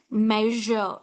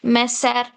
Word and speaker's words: measure: See, here S is given. I'm not pronouncing it as messer, pleasser, wissen, tressa. No, it's wrong. Sa. It's not sa sound. It's not sa sound at all. It is measure, sound. Measure. It's not messer.